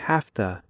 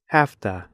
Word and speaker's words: have to: by using half - in slow speech Americans say have - but in fast speech Americans say hafta it looks like this have to it sounds like this afta watch the video listen